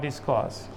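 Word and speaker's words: discourse: इसमें भी हर साइलेंट है बेटा। डिस्कस बोलना है। उसी रूल के तहत के आर से पहले वाउल आया है। इस वजह से आर यहां पर साइलेंट है।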